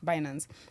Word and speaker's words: Binance: KG Media, Trilla and Binance Binance that's right pronunciation Binance as founder of culture cabal media.